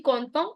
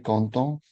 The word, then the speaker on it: content: Males will say je suis content and females will say je suis contente.